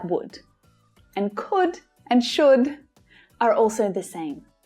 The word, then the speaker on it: coulda: hear that v sound could have can also sound like coulda coulda you could have brought